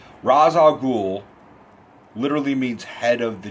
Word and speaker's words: Ra's al Ghul: alias Liam Neeson plays Ra's al Ghul or racial cool it depends on how you pronounce it I never really knew which one of announces so I useful Ra's al Ghul literally means head of